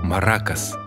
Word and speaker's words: маракас: что это итак маракас или марокко да да совершенно верно ударение на вторую букву а обыденной жизни мы